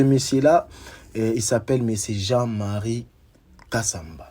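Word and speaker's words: Jean-Marie Kasamba: Et ce monsieur là il s'appelle monsieur Jean-Marie Kassamba, si j'ai bien prononcé son nom et son prénom, mais c'est Jean-Marie Kassamba.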